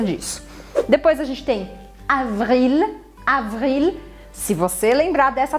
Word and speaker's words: avril: Outra forma também é você aumentar o tempo do V. Avril, porque aí você começa a se preparar para fazer o R.